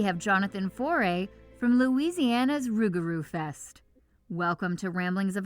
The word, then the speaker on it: rougarou: But now, since we're mostly just English speakers, it's rougarou because that's a little bit easier for us to pronounce.